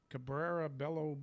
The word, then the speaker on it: Cabrera Bello: i'm going to pick this is how you pronounce this guy's name cabrera bello brother oh yeah i like that guy he